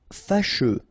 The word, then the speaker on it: fâcheux: Fâcheux. So final X not pronounced, and then you get your combination of U, E. Fâcheux.